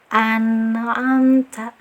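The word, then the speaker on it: أَنْعَمْتَ: Jadi cara bacanya seperti ini ya. An'amta, an'amta, nah tetap ada aliran nah ada aliran sedikit dan tidak terlalu ditahan juga. An'amta, yang keliru kita kak an'amta, an'amta, nah itu tidak ada alirannya.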